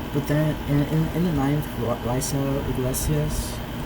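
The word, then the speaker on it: Raisel Iglesias: But then in the 9th, Raiso Iglesias, in the Spanish pronunciation of it.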